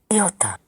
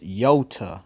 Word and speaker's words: iota: It's iota, not Iota. iota. It's yo, like a ya sound, or the y sound. That's that. It's the iota, not iota. That's English. When you say iota, that's English pronunciation, which is false. In the Greek is iota with a y, like yeah, you know